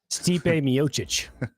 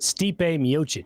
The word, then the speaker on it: Stipe Miocic: How do you say it again? Steepy. Steep. Steep. Miocic. That's it.